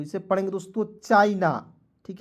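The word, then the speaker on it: China: सी एच आई एन ए तो इसे पढ़ेंगे दोस्तों चाइना ठीक है चाइना पढ़ा जाएगा सी एच आई एन ए चाइना ठीक है चीना नहीं पढ़ लीजिएगा उसके बाद देखिए फिर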